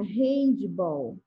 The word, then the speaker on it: handebol: homem joga handebol e nessa palavrinha handebol com a letrinha h ela assume o som da letrinha r olha quando a tia